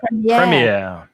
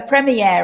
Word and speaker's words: premiere: Now, the premiere, like the genre, both of those words come from French. And we try in English, we always try to pronounce these foreign words in the foreign accents. It's not like Spanish, where you pronounce all your foreign words with Spanish pronunciation. In English, we don't do that. We often try to maintain the original pronunciation.